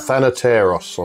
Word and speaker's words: Thanateros: Thanateros, I think that is, isn't it? Thanateros. Pronunciation, yeah.